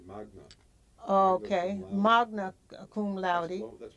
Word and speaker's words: magna: And he's had he's a Mangan. Is that how you pronounce it? Mangan cum laude? It's Latin, so it's actually magna.